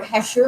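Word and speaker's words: hachure: It is spelled H-A, I want to make sure I'm spelling it right. It's on your thing. H-A-C-H-U-R-E. It's how that's spelled.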